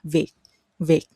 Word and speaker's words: Việt: And the T sound in Southern dialect, the T ending at the end of every word is more like a K ending, viet viet.